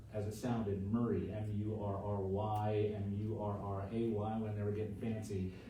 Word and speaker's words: Murray: of the word as it sounded, Murray, M-U-R-R-Y, M-U-R-R-A-Y, when they were getting fancy, but it's always been called Murray instead of Moore.